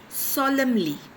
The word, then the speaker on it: solemnly: Now here that N is silent. You have to pronunciate it as solemnly.